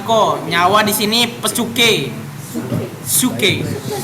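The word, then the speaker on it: ψυχή: Suke. PSUCHE nih. Aku tulisin. Suke. Suke. Bacanya suke.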